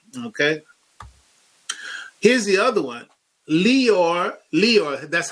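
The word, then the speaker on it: Lyor: Leor, that's how they pronounce his name, Leor, but no, it's a liar.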